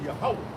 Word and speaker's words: Yahweh: But it's really Yahweh. Right. Right? Yahweh is how you say it.